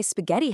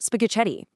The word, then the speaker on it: spaghetti: Throwing an H into the mix instantly hardens the consonant. That's exactly why spaghetti has an H. Without it, it'd be pronounced spaghetti.